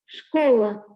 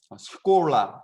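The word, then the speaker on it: школа: 러시아어로 학교는 스콜라 스콜라 이렇게 읽는데 쉽게 얘기하면 스쿨이에요. 스쿨이라는 말이 이제 러시아 쪽에서는 스콜라라고 읽는 거죠.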